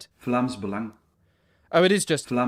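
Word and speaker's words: Vlaams Belang: Vlamsang. Oh, it is just Flams Balang. Flamsang Flams Balang. Flams Balang.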